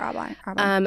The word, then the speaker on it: Arbonne: Arbonne. Yes. You're killing it, right? Doing Arbonne. Why did you make that leap to do, and like, what was the backstory there? To start Arbonne? To start Arbonne.